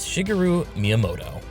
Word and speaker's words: Shigeru Miyamoto: design a new original game that Designer is Shigeru Miyamoto there I finally pronounce his name right are you happy are